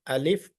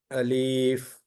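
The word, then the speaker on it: ألف: If you pronounce it alif, that is enough. By mistake, some people may say like alif. This is wrong. Alif, this is correct. There is no prolongation here.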